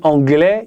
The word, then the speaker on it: anglais: c'est pas bon si tu dis anglais ils doivent mettre le S mais on le prononce pas si tu dis anglaise